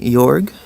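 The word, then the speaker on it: Jörg: wrong I used to is it jorg I think it's how I say it right York yeah Richard Gene's gonna be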